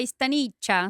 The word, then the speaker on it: Staniccia: Stanícia. Stanícia. Isso. Esse sobrenome, ele é? Italiano. Italiano, A pronúncia é Staniccia, só que se eu falar assim...